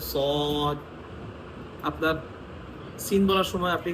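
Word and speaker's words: ص: যেমন সদ উচ্চারণ করলে একটু আওয়াজটা মোটা করতেছেন সদ আপনার সিন বলার সময়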